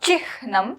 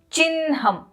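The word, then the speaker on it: चिह्नम्: It's not chihnam, it is chinham.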